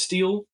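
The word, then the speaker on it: stele: gonna look up because I know that it's pronounced steel and I've heard of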